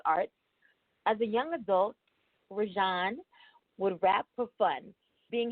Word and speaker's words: Rejan: that straight first now you said it right rashon I said rosanna rosanna I said it right